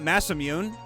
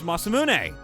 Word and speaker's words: Masamune: That's literally how you say it's not massammune, it's Masamune. And everyone's like, "No, it's mathmune, you idiot."